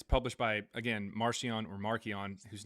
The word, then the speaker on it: Marcion: is published by Marcion, whose name is pronounced Markion.